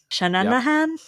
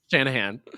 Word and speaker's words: Shanahan: Shanana han? How do you say it? Shanahan. Okay, I added an extra nanan.